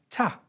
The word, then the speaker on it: to: Remember, in all of these phrases, you would have heard them pronounce to as ta. The sound you hear there is ah. We call this a schwa sound, which is really important in English.